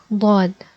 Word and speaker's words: ض: For example, if you press the yellow ones only without the sides, you will get a gruffy D, and this is not how we pronounce the Daad, okay?